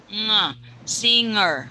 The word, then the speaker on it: singer: a singer you're saying singer no no no G sound okay don't say GG but say singer singer you were very